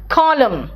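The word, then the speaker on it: column: कहते हिम नहीं कहते कॉलम एन साइलेंट है ना अब देखो आप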